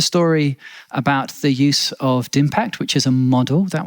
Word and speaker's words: DIMPACT: I think we just say DIMPACT, but DIMPACT. It's digital impact.